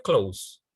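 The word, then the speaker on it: close: Sama seperti tadi ya, Anda bilang pakaian kan clothes kan sama dengan menutup. Menutup juga dibaca clothes. Ejaannya berbeda, tapi pronunciation-nya sama.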